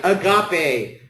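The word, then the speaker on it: ἀγάπη: Agape. That's exactly right. Agape, which means love.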